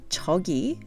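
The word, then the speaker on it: 저기: literally means here please change the first syllable yo to Cho and you get Tokyo recall that Yogi means here now chogi on the other hand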